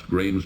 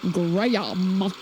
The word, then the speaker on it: Graham: Kills in the narration pronounces Graham. Wonder if the narrator was being paid by the syllable. Graham.